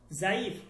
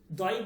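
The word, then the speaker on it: ضعیف: এইখানে আপনি জাইফ বলবেন, জাইফ, জাইফ, এখানে দ বলার দরকার নেই, জাইফ, দয়ীফ বলার দরকার নেই, ঠিক আছে।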